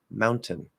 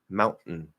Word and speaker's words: mountain: So fully enunciated, mountain, mountain, mountain. You say that T. Not fully enunciated, mountain, mountain. You stop that middle T and then release that syllable again.